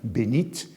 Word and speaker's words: bénite: il y a donc une variante qui conserve la prononciation au féminin, bénite, du T latin. Benedictu, Benoît à un T, Benet à un T, c'est ce T-là qu'on trouve dans bénite.